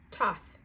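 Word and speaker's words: Thoth: know okay let's read is it thought or thought i don't know i think they've they tell us in here pronounced toth top life codes it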